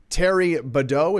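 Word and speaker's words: Thierry Baudet: And speaking of that, let's play the beginning of this clip of Terry Badeau.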